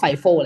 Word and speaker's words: FIFO: อา เสียง ว่า ฟ บาง คน ก็ ไฟ เนาะ แต่ ว่า เพื่อ ความ เข้า ใจ ง่าย เนาะ ผม ขอ ออก เสียง ว่า fifo แล้ว กัน นะ ครับ จะ ได้